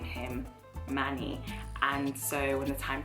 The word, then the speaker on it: Manny: The Americans pronounce it Manny, and actually I first heard the American pronunciation of it and I just fell in love because I just loved the sound, Manny. I loved it, but of course, you know, the English we say Manny.